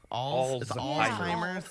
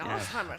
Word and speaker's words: Alzheimer's: It's a hard word to say. It's Alzheimer's. Yeah. Pronounce the Z. Very German. Alzheimer's. Alzheimer's. Think about it in a German sense.